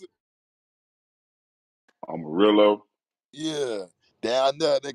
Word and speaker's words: Amarillo: you pronounce it right arminello arminello how you pronounce it Amarillo yeah yeah I know they got the 72